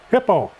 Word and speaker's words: Hiipoo: And the ink I use is, some people call it Hiipoo, but it's actually pronounced hippo. Kind of like a hippopotamus, but it's spelled different.